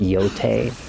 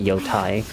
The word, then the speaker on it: Yotei: I So, I apparently I pronounced it wrong cuz it's actually pronounced Yote, not Yai.